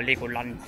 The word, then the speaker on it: Legoland: Hello, my name is Karl from Knopf your Coasters Korrektly, and we will do this Legoland now, or Legoland, as we would say in Germany.